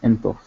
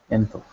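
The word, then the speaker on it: ⲛ̀ⲑⲟϥ: So the masculine, for he, you have jinkim, ne, theta, o, and fi, enthof, enthof.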